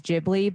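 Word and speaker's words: Ghibli: so okay okay I think any of the jibli movies the studio jibli films are really amazing and those are I I want to say if if you have some beginner maybe it it is jibli but that's only because the the topics vary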